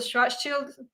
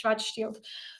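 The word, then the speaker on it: Schwarzschild: we call it the stret shield I I pronounce that two different ways it's a German name it's Strat Shield The stret Shield vus came out full German the sh Shield radius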